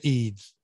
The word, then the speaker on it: Ede: Listen to the Georgia, is it Georgia Ede or Georgia Edie? I never know how to say her name. Georgia Eads.